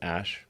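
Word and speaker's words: Æ: name X letter X the AE is like pronounced ash a 12 is my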